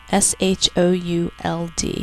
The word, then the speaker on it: should: O O's third sound and a silent l Spell should out loud s h o u l d should number 12 shall